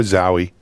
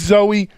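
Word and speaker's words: Zowe: Is it Zoe or Zowie? Zowie is the comic book. Right. Well, no, I'm a David Bowie fan, right? And it's Ziggy. But anyway, it's Zoe.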